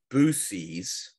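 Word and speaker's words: buoys: want to kill you they're saying booies instead of bies okay they want to kill you just just throw it out there they're like your friend needs to learn how to pronounce bies yeah yeah no I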